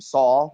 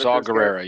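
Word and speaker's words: Saw Gerrera: Saul, is that right, Forest? What? Saw Guerrera.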